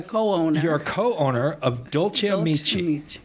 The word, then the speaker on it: Dolce Amici: You're a co-owner of Dolce Amici. Correct. Did I pronounce that right?